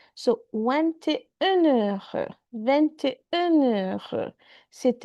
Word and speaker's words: c'est: Make liaison here. C'est ta. T is pronounced. Otherwise, independently, the T is not pronounced. It's c'est. And it just sounds like c'est en anglais. But when there is a vowel next to it, so c'est ta.